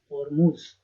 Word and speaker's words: Hormuz: Pronounced as Hormuz.